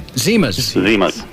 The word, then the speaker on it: Zimas: Zimas.